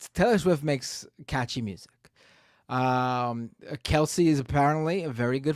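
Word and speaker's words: Kelce: No, it's Kelsey. You're wrong, buddy. It's Kelsey.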